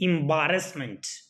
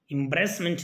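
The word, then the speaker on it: embarrassment: जैसे कि एम्बैरेसमेंट, एम्ब्रेसमेंट नहीं होता है, एम्बैरेसमेंट होता है।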